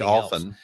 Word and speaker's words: often: But I suppose it's like often. Each country, often that. But I mean, that's supposed to have the silent silent T, but there's no silent L in solder.